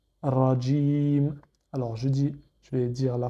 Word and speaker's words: رجيم: Et enfin, la lettre mim avec la voyelle I, sauf qu'on ne prononce pas la dernière voyelle d'un verset ou d'une phrase. Donc ça nous donne Rajim.